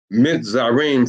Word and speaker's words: Mizraim: When you hear me use that long I, right, and that short A, like in Mizraim, you hear that long I? That's because I'm pronouncing it with the ancient Hebrew lettering. But in English, it would be Mizraim for Egyptians, and for Italy, it would be Kittim, Kittim.